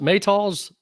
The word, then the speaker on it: Maytals: Then I pick up at 381, Toots and the Maytals. Is it Maytals? Is that how you say it? Yep. Yeah. Yep.